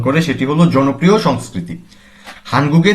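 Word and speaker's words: 한국의: হাংবুক Korea ওই পার্টিকেলটি কোন একটি শব্দের শেষে এলে এর উচ্চারণ হয় এ এবং বাংলা অর্থ হলো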